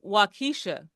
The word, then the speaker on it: Waukesha: He put the emphasis on the wrong syllable.